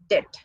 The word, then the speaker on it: debt: Actual pronunciation of this word is debt, not debt.